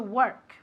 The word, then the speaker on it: work: Cuidado con la pronunciación de work, que se pronuncia como si fuese una E, okay? I went to work.